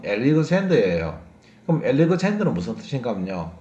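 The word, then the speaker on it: Alexander: 이번에 유명한 사람은요, 우리가 알렉산드라고 부르는 사람인데요, 정확한 발음은 엘리그젠더예요.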